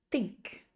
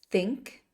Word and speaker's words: think: told told to think when you pronounce t h in English you need to bite your tongue think don't forget the GH is silent so think thought thought think thought